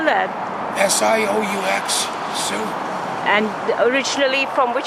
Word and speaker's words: Sioux: How do you spell that? S-I-O-U-X, Sioux.